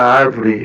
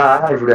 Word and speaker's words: árvore: considerei como certo é a palavra árvore realmente é acentuada a antepenúltima sílaba tônica eh pois se trata de uma proparoxítona e a regra da